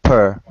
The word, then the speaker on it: pr: an enclosure, which is the word for house is pronounced per, or Egyptologically, Egyptology speak per, which functions as a logogram.